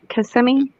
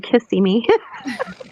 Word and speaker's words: Kissimmee: am I saying it wrong? Kissimmee? It's Kissimmee. Oh, I'm saying Kissy Me.